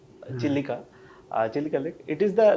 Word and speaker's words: Chilika: You have a Chilka Lake? Yes. What is a Chilka Lake? Chilka Lake is the Full of large. Chilkas or what? Huh? What is a Chilka Lake? We pronounce it Chilika. Chilika.